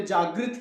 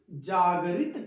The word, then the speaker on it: जागरित: कहते हैं हमें जागृत अवस्था में कर गए, हमें उन्होंने जागृत किया। जागृत नहीं करते, जागरित करते हैं। क्या करते हैं? जागरित। जागरित, जागरित, जागृत नहीं, जागरित।